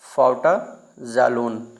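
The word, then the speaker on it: Fouta Djallon: फाउटा जाललोन। डी यहां पे silent है।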